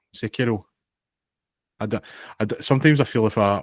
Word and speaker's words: Sekiro: Then there was an advert, I believe, for Sekiro. Is that how you say it? The Shadows Die Twice anime. Sekiro. Sekiro.